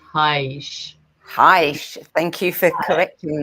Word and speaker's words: Haisch: German, so his last name is pronounced Haisch.